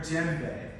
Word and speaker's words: djembe: And you do not pronounce the D.